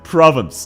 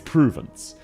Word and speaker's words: Provence: Province. No. It's Pruvence.